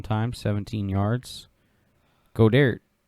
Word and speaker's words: Goedert: Godert. I can never pronounce his name, man. I am horrible with his name. Goddard. Yeah, perfect.